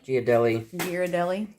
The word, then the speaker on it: Ghirardelli: Just little chocolate shavings from that 86% Ghirardelli, how do you pronounce that again? Ghirardelli.